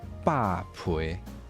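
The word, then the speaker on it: 豹皮: 没有，它还是把，但是它的声调会变成像后一样的声调，所以它会变霸陪。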